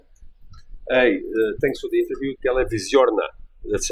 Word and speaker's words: Televizornia: Hey, thanks for the interview Televizorna. That's how you say it. Televizorna.